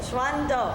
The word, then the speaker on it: 双刀: How do you say that in Chinese? This is called 双刀. 双刀. 双刀. 双刀. In Cantonese, okay?